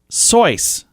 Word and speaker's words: Seuss: their family pronounces it soyuz like rhyming with voice truly college friend alexander